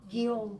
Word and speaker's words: Guillaume: There's a wonderful professor out of the University of Windsor, and Karen knows how to pronounce his name. Say it. Guillaume Teasdale.